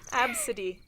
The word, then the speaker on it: Abcde: Like Absidy. Chuck E. Cheese. Yeah, like I want to see like a little. No, not Chucky. Absidy.